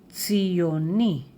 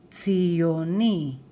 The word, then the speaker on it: ציוני: Zionist in Hebrew is, for a man, ציוני, ציוני, ציוני, ציוני, the sound of TsadI, tss. And for a woman, ציונית, ציונית, ציונית. The dot here, right? This is the gesh. It closes the syllable.